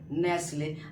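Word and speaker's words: Nestlé: नेसले। अब आप कहिएगा कि सर यहां ई साइलेंट नहीं होगा क्योंकि ऑलरेडी ये कंपनी का नेम है तो इसमें आपका नहीं होगा साइलेंट ठीक है यहां आपका ई साइलेंट है बट यहां आपका टी साइलेंट होगा समझ में आ रही है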